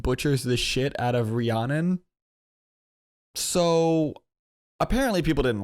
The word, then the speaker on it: Rhiannon: It always looks like Rihanna, but it's Rhiannon. The song, okay. Rhiannon with her childhood hero, Stevie Nicks.